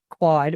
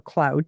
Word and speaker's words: Claude: using it a lot but um I'm using quad or Cloud depending on how you say it and I'll